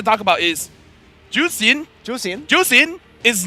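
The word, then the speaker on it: Zhuxin: I have to talk about is juicin ju juicin is not playable in MC 2024 and that's how it's pronounced guys okay how you pronounce zask it's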